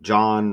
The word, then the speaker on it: Jhon: Again, John like Donald, John Trump. John rhymes with Don.